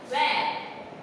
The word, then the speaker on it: where: वेर, WHERE, देखिए वेर, तो इसमें H जो है वो साइलेंट हो जाता है, राइट?